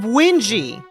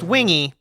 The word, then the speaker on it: Wingie: In the silver corner, we have Wingie. He swears it's not pronounced Wingy.